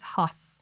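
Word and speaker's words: Haus: Hos hos. Like the German pronunciation of it.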